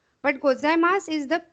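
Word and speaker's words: ございます: This SU is pronounced S. Somewhere they pronounce it su also, gozaimasu. But gozaimasu is the correct wording.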